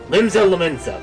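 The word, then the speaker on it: Limsa Lominsa: Hopefully by the time we get there, we're actually going to know how to pronounce it. We got a long... Attention all passengers, the airship bound for Limsa Lumensa, there we go, is about to depart.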